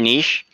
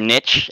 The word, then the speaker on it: niche: to stay in your niche or niche as as I just learned is the proper way to say it earlier I know it